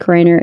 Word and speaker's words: Reiner: Their 32-year-old son, Nick Reiner, is responsible. Is that how you say it, Reiner?